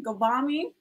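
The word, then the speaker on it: Ghavami: Gavami?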